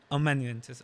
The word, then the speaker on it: Amanuensis: to butcher the name but like the album AM Manis or how do you pronounce it a mananes am mananes okay yeah it it like changed me personally